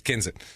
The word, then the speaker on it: Kensett: week to Kensit Arkansas okay and it is pronounced kenit because I did saw several local news uh broadcasts that proved that uh Ken k n s TT so you say KET no it's it's kinet down there I imagine and it's funny hearing